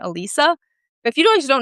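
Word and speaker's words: Alysa: Even Alyssa Liu, like Alyssa, her actually, I think she actually pronounces her name Elisa.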